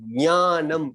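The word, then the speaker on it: ज्ञानम्: तो ज्ञानम ऐसा बोलिए, वो सही है।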